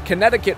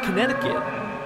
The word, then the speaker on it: Connecticut: You'd be surprised, honestly, how many people I've encountered from Connecticut who are unable to spell Connecticut correctly. It's that silent T, or excuse me, that silent C in the middle of the word.